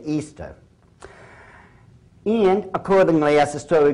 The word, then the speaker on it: Ishtar: Now, a lot of people think it's pronounced Ishtar, I-S-H-T-A-R. People check the Babylonian Talmud. Once again, it is properly pronounced to this very day, Easter.